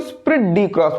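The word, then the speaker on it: esprit de corps: कि स्प्रिड डी क्रॉप्स स्प्रिट नहीं बोलेंगे को स्प्रिड डी क्रॉप्स बोलेंगे क्योंकि यहां पे ई जो है आपका साइलेंट है है ना ई इसका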